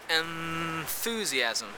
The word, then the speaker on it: enthusiasm: For example, the word enthusiasm, you say enthusiasm, meaning that that nasal is actually a dental nasal, instead of the alveolar nasal, So, enthusiasm.